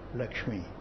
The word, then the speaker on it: Lakshmi: tell you how to write it, how to pronounce it. The name is I give you is Lakshmi. Lakshmi.